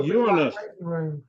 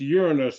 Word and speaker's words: Uranus: No, Uranus. It's pronounced Uranus, although the temptation is there to pronounce it the other way.